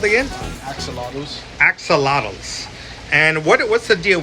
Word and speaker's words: Axolotl: Axolotls.